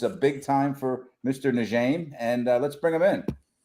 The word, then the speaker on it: Njeim: I guess now, and his name is Njeim.